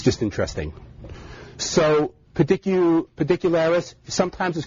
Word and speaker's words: Pedicularis: And so some of them would include, my favorite is probably pedicularis. I will say that again. Pedicularis. So it's just like it sounds.